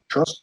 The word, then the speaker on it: Trost: I believe Trost. Did I pronounce that right? Yeah, toast with the guttural R, toast.